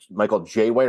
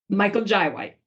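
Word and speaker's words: Michael Jai White: Is it Michael Jay White or Michael J? Michael Jy White.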